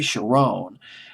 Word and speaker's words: Cherone: Although one of the group members, Gary Cherone, Cherone is Cherone. I'll just pronounce it as Cherone.